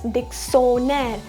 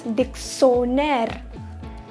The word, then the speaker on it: dictionnaire: In English we pronounce it as dictionary, but in French we call it as dictionnaire. It becomes a sound of S here at the place of T. So it becomes dictionnaire.